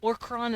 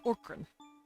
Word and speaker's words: Orkran: Orkron is their word for themselves.